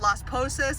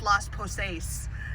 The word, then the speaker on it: Las Posas: instead of kaneho and instead of las posas it's los poce and i was like